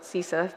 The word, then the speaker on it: CISA: received $1.5 million from cisa from or cisa that's how you pronounce it Grant um and